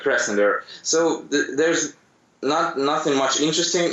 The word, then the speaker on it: Krasnodar: Well, actually, I live in a city called Krasnodar, and it's in Russian it sounds Krasnodar, but yeah, in English it's better to pronounce like Krasnodar.